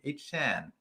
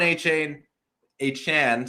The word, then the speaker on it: Achane: was, NBC Sports, and said, hey, no, this is my name. And so we will pronounce it that way. Devon H-Chan, sorry, see, it's already forced a habit.